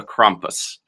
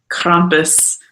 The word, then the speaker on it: Krampus: wonderful Christmas legend called Krampus. I think I'm pronouncing it right. That's how Christoph Waltz pronounces it, and that's what I'm going to stick with.